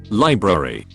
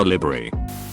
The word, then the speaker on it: library: chips those chips those chips chedule when it's pronounced shared you'll wash / wash I trained myself out of that habit me library we don't borrow books from a livery Jalapa no is not J Pauline o or